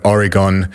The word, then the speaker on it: Oregon: What did I say? Oregon. Like polygon.